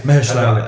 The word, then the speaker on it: Mahershala: more with the fact that Mahershala, how you pronounce his name? Yeah, Mahershala Ali.